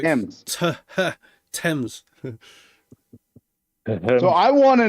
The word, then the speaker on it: Thames: So it's Thames.